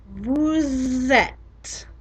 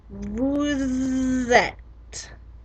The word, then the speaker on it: vous êtes: You probably heard that I was making a liaison in between vous and et, because vous ends in a normally silent consonant and et begins with a vowel, so we liaise them together.